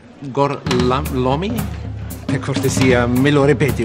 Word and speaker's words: Gorlami: Lo pronuncio correttamente? Sì, corretto. Gorlami? Per cortesia, me lo ripeti ancora. Gorlami.